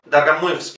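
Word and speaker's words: Dargomyzhsky: Dargamuysky. Este es otro fonema que no tenemos nosotros. Jski. Dargamuysky. Es fácil.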